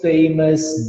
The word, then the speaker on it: famous: Tu nunca vai falar ous. Tu sempre vai falar us. Serious, famous, dangerous.